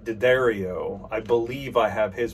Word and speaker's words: D'Addario: I read it as D'Addario, and we've had some back and forth, and I haven't got a chance to watch the video where he indicated that someone actually from the company pronounces it D'Addario.